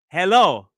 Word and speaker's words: hello: But the way we say it, that first unstressed syllable is often he or it's a weak syllable. Don't equally stress this word. Hello.